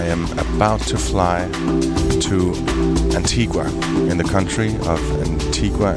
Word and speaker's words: Antigua: Some say Antigua. Antigua is the Spanish pronunciation because of the whole Columbus thing, and in Spanish, Antigua means ancient.